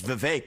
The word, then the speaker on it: Vivek: Alright if I say my name is Vivek it rhymes with cake it ain't about thee